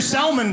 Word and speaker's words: salmon: you know the restaurant the waitress who pronounces the l in salmon is not going to be a good meal okay how would you like your salmon prepared not here i